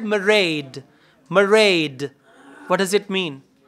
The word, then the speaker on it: Mairead: When she said Mairead, what does it mean? R. It's understood. Okay, so M-A-I-R-E-A-D. Now there R is like R, soft. In British English, R is soft.